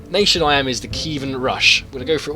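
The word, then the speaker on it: Kievan Rus': Okay, so in this battle, I'm the Kievan Rush. That's how you pronounce it.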